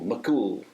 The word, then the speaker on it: MacCumhaill: had to practice because it's an Irish name and it sounds a bit like son of cool, MacCumhaill, but it's spelled very differently.